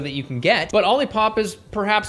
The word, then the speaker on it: OLIPOP: OLIPOP, like a lollipop, like I first said it, is correct.